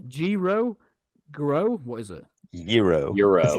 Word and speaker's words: gyro: Joris, how do you pronounce it? Is it gyro? Gyro? Grow? What is it? Euro.